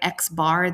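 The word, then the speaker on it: x̄: We also have a formula for sample mean which is represented by xbar. That's how you would pronounce this.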